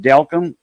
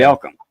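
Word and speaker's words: Delcambre: They their last name's actually pronounced Delcom, and that's where their grandpa was from. Yeah. Delcom, Okay.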